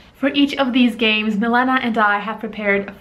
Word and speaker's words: Milena: The E is really difficult for people. Like people say Milena, Milena, but it's E, like from your throat. Milena.